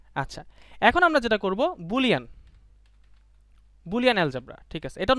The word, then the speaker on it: Boole: এটা প্রোনাউন্সিয়েশন ব্যাপার, বাট বুলি উচ্চারণটা হচ্ছে ইনকারেক্ট। আমি অনেক জার্নালে বা অনেক আর্টিকেলে দেখছি, আসলে সায়েন্টিস্ট দেখছি ওরা বুলিকেও বলে না, সব বুল বলে, কিন্তু কেউ কেউ রং বলে বুলি বলে, আসলে বুলি না, এটা বুল।